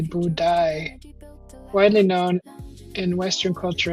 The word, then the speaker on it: Budai: The pronunciation is Boodye, Budai, widely known in Western culture as the Laughing Buddha or the Fat Buddha.